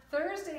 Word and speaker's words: Thursday: Now remember, Thursday doesn't make the T sound at the beginning like it does because it's with the H, so they blend together to make the Thursday sound, the TH sound.